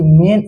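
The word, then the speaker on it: mane: लेकिन वही मेन मैन में अगर लास्ट में इ लग जाए तो इसका उच्चारण मेन।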